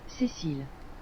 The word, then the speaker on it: Cécile: Cécile.